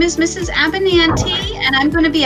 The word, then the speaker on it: Abinanti: Abinanti.